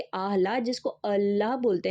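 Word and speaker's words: الله: कि हम जानेंगे कि अल्लाह जो हम बोलते हैं आह ला बेसिकली वो प्रोनाउंस इस तरीके से होता है कि अहला जिसको अल्लाह बोलते हैं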